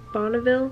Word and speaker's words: Bonneville: of the chapter about bonville salt flats bonneville i think that's how you say it bonville looks like this and it's something that